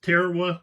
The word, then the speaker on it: Tarawa: It's Tarawa. Most of y'all, I think, I've heard it pronounced Tarawa.